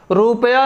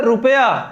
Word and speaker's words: रुपया: तो यहाँ देखिए, रुपया नहीं होगा, शुद्ध शब्द क्या है? रुपया। इसको झटके से पढ़ेंगे, रुपया।